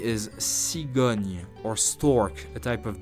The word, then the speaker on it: cigogne: Listen, then pronounce Agnès, Agnès, Agnès. Word number 3 is cigogne, or stork, a type of bird.